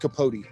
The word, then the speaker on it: Capote: i don't think but it that name is pronounced capote i'm gonna cody yeah okay put a second